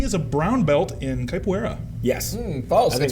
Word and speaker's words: capoeira: He is a brown belt in capoeira. Yes. False. I think It's that's pronounced true. capoeira.